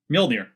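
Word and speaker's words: Mjölnir: Mjolnir. Is Mjolnir. Is it? I mean, it Nordics. It doesn't matter. I mean, you'll probably say it the correct way because you speak fucking Danish, you nutcase. Mjolnir.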